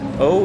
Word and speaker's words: eau: O is the water theme, which makes sense seeing as O is French for water when it's spelled E-A-U.